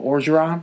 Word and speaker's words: Orgeron: Oh, Orgeron.